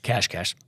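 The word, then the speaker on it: Cache Cash: Now, first of all, as a geocacher, and it's spelled C A C H E, cash cash.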